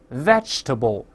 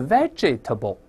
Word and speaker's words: vegetable: 蔬菜 vegetable，而不是 vegetable，后面那个哎是不发